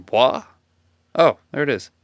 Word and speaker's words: Bois: No idea how to pronounce that name. Bois? Oh, there it is. Boys.